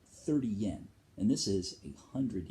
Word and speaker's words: yen: Which they don't pronounce the Y. It's N. 10 yen.